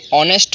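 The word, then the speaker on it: honest: of being ऑनेस्ट में देखिए यहां पर यह चीज जो है वह साइलेंट है अगर साइलेंट नहीं होता तो हम इसको क्या पढ़ते हैं और एडिट लेकिन इसको पढ़ाया जाता है और नेक्स्ट हुआ है इसको हम ऑनेस्ट पड़ते हैं यह वाला चाहिए इनकी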